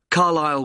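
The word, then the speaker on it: Carlisle: and your address 45 carile way could you spell carile for me sorry it's c a r l i s l e you don't pronounce the S Carlile way and that's in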